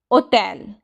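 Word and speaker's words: hotel: होटल English में बोलते हैं लेकिन इटालियन में भी सेम होटल है लेकिन थोड़ी प्रोनाउंसिएशन में चेंज है ओटल।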